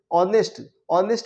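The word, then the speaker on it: honest: जैसे ऑनेस्ट में H silent है, यहाँ पर ऑनेस्ट, इसीलिए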